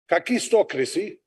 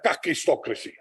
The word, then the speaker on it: kakistocracy: are inept and incompetent that's a Greek word it is pronounced kakistocracy but in South Africa who use the South African uh vernacular so it's a kakistocracy thank you Verizon if